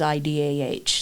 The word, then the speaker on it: Idah: I actually thought, first I looked at it, it's like Idaho. Idah. Yeah. And her interview as well as I-D-A-H.